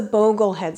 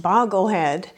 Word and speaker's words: Boglehead: This is a Boglehead strategy, which apparently I've been mispronouncing for years. I always thought it was pronounced Bogglehead.